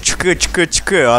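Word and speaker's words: !!!: Группа произносится как ЧК-ЧК-ЧК, однако именует себя примерно как три восклицательных знака.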